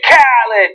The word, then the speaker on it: Khaled: and the actual pronunciation of DJ Khaled's name is DJ Khaled, because it's like at the beginning of every song he's ever been on. Yes. You have to shout it.